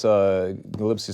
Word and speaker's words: Gillespie: Outside Attempt to- outside of the media stuff, Gillespie is a must-watch Is it fight. Gillespie? Is that how you Yeah, pronounce it? Gillespie.